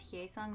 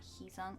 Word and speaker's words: Heesung: It's Hyeesung, not Heesung.